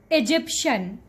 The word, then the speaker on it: Egyptian: call this one Egyptian no you are completely mispronouncing this word okay sorry correct way to say this word is Egyptian Egyptian Egyptian all right so we are done